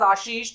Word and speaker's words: Ashish: रहे हैं तो नाउ it's incorrect, because I pronounce my self as आशीष, तो यू नीड टू से आशीष एज वेल।